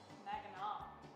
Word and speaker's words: Mackinac: Mackinac. That's how it's pronounced Give here.